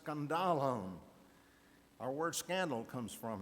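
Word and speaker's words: σκάνδαλον: talked about that in the original language is pronounced scandalon our word Scandal comes from it the word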